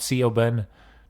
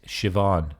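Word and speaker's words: Siobhan: we have sioban not Cen not C Bon it's Shivan all right that's how it's pronounced b b is kind of like a V sound in art or especially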